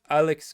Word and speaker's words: Aleix: Obviously, you also had a player like Alex Garcia, I believe is how you pronounce his name. Just I think it's Alex, but it's spelled Aleix.